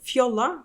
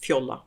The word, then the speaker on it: Fjolla: and I pronounce it Fiola because uh it's called it's spelled f j-o-l-l-a and that's a Norwegian word and it's pronounced Fiola in Norwegian so that's where I